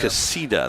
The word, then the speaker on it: Casita: Casita, that's how you pronounce his name.